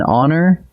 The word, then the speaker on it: honor: And watch these, an honor and an hour. Both are spelled with an H, but the H is silent, so the word actually opens with a vowel sound, and we reach for an.